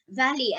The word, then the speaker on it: Vallée: Valley, as in valley.